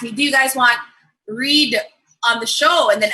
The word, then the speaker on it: Read: Read.